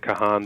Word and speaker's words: Kahan: pronounce your last name i pronounced it kahan but I hear everything and so you did a great job well from this point forward I will say it correctly dr.